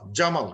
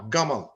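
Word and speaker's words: جمال: So they will, যেমন ইজিপশিয়ানে ওরা জিম উচ্চারণ করতে পারে না, জিম, তারা জিম হয়ে যায় জি গ হয়ে যায়। যেমন ফিল মাসজিদি, ফিল মাসগিদি, মাসগিদ, জুমা, গুমা, জামাল, গামাল, তো ওরা জিম উচ্চারণ করতে পারে না।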